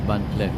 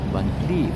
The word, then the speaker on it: Van Cleef: So we can now take a peek of the Van Cleef, not Van Cleef, Van Cleef. Wow, what a pronunciation from, right?